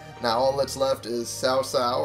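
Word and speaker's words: Cao Cao: all that's left is sao sao or cow cow however you want to pronounce it i i'll keep doing it sao sao because i feel that's correct and soon the student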